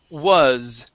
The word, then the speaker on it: was: is this one here the word is was was okay with an s was lex there you